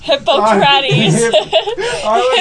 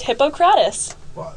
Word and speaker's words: Hippocrates: And it's spelled more like hippo, as in the animal. You know, that's why Ty pronounced it Hippocrates.